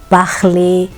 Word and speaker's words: parler: A pronúncia correta é regarder, parler, écouter.